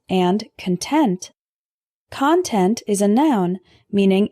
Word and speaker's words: content: benjamin franklin attribute attribute our next heteronym is content and content content is a noun meaning information or objects that are contained inside something else for example the security officer inspected the contents of my suitcase content is an adjective meaning